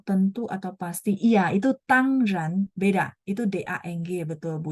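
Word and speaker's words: 当然: Ini bacanya tangran yang artinya tentu, pasti ya.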